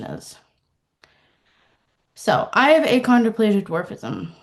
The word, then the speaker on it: achondroplasia: So, I have a controplasia dwarfism. It's spelled A C H O N D R O P L A S I A.